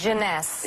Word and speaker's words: Jeunesse: How do you pronounce this? Jeunesse.